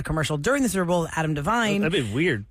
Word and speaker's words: Devine: how to say it people saying Divine Divine Divine he's Divine cuz Adam Lavine from Rune five Adam Divine from righteous gemstones Pitch Perfect Circle ads